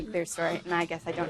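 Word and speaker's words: clerestory: story Windows CLE CLE I know some people say it that way it's c l e r e s t o r y how do you say it I say it claster but maybe I'm wrong I've heard it said both ways I always just say clear story and I guess I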